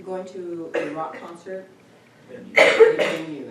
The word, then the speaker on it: venu: Venue. It's the past participle. What's the past participle of the verb to come? Say it in French. How do you pronounce silent E? You don't.